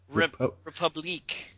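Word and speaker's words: République: I can't even pronounce it. Republic, but with a Q. Republique.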